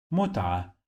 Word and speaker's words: متعة: The sound of T. Mut, it has sukun, so here is the end of the syllable. Mut, mut, we trained this letter a lot today. Okay, with fatha, it sounds like a.